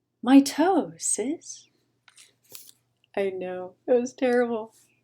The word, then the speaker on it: mitosis: spell it for you it's what my 14 year old says when the 11 year old steps on his foot my toe sis i know it was